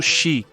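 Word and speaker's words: 四: Em japonês, o número quatro pode ser pronunciado shi e a palavra para morte também é shi. Apesar de serem representados por diferentes kanjis, eles possuem o mesmo som.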